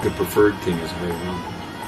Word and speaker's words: Rama: But, you know, I think the preferred thing is Hare Rama. And that's the original Sanskrit. You know. The Ma is pronounced in Sanskrit. In the other languages, the Ma may not be pronounced indeed.